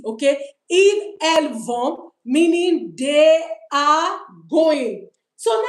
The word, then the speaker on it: vont: Please, it's vont. It's not vont. We don't pronounce the T, okay? Ils, elles vont, meaning they are going.